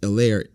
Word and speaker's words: Helaire: out that it's pronounced elaire as opposed to hillary so the h is silent clyde edwards earlier was